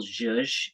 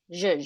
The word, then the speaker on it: zhuzh: Leetta, for the purposes of the minutes, how do we spell zhuzh? Is it J-Y-U-J? It's Z-H-U. Zhuzh.